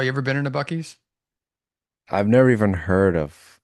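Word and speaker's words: Buc-ee's: Bucky's, yeah.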